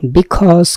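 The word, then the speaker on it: because: beautiful মানে হচ্ছে সুন্দর বিকজ কে অনেক সময় আমরা খোঁজ বলি এখানে জ আছে উচ্চারণ খেয়াল করবেন বিকজ বিকজ মানে হচ্ছে কারণ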